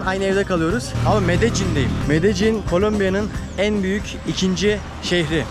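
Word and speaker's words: Medellín: Medellin diye yazılıyor. Medellin diye okunuyor.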